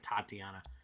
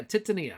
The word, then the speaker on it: Titania: Or Titania. Titania Tatiana. Titania. Yeah, Titania. Okay.